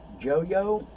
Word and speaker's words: Joyo: I've got this wah volume pedal by Joyo, or Joy-O, however you want to pronounce it.